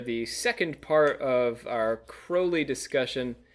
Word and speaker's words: Crowley: on stage for the second part of our crowley discussion crowley crowley i won last time remember you know ozzy